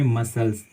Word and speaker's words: muscle: उसी तरह से मानिए एग्जाम्पल में मसल्स, MUSCLE, यहाँ पे भी जो सी है वो चुपचाप रहती है, उसका उच्चारण बिल्कुल नहीं होता है।